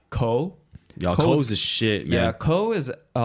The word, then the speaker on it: KOHH: So that's why like the rappers there, like AKA like Ko. Yeah, Ko's the shit, man. Yeah, Ko is so his name is spelled as KOHH.